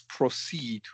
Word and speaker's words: proceed: Proceed with the schwa. The O is a schwa.